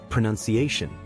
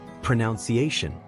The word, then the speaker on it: pronunciation: how about this one it is pronounced as pronunciation usually mispronounced as pronounce iation the word pronunciation comes from the verb's pronounce but it drops the u sound when turned into a noun it means the way